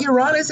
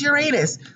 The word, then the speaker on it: Uranus: you out there saying it's not you're honest it's Uranus for some reason I feel like that's the way I should pronounce it so I do